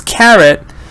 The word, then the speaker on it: carrot: have the other one which is Carrot but that's the schwa so let me see